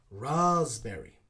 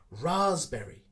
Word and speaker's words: raspberry: the sp sound is kind of ignored it's silent but we replace it with a z sound raspberry do you fancy going raspberry picking tomorrow okay let's pronounce it and practice together raspberry okay good job okay